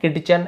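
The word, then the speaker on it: kitchen: से रसोई घर से यहां पे टी को नहीं पढ़ना है किचन एज एन किचन बस पढ़ना है टी साइलेंट है वेयर एज जबकि है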